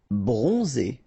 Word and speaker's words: bronzé: Bronzé. So O-N, on, and then Z. It's really pronounced like Z.